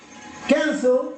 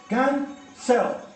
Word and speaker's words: cancel: Mira, cancel, ¿cómo se pronuncia? ¿Cuántas sílabas tiene? Tiene dos. Cancel. ¿Y dónde va la mayor fuerza de voz? En can, ¿verdad?